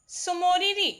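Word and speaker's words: Tso Moriri: ठीक है, जम्मू कश्मीर के 4 हैं, वुलर झील, सुइंसार मानसार लेक, होकेरा वर्डलैंड और सोमोरिरी लेक, ये टी साइलेंट रहता है.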